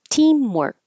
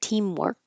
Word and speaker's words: teamwork: Now, teamwork. If I just pronounce this word by itself, you we won't hear that final K. I just hold it. Teamwork.